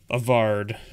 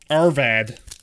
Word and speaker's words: Arvad: And we got another Avard, or whatever his name is. Arvad. Who are you? I Arvad. That's how I should learn how to pronounce it, right? I think that's how it's pronounced.